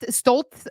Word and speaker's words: Stolz: My name is pronounced Stoltz, but it's spelled Stolz.